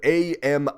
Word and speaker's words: Ami: founder yep Ami Fe I think it's supposed to be pronounced Ami cuz it's Japanese but I'm going to